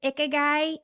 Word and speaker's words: Ikigai: Am I pronouncing this right? Ikigai.